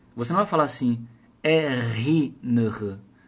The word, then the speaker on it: erinnere: Você não vai falar assim, erinnere. Não vai juntar o R com o I.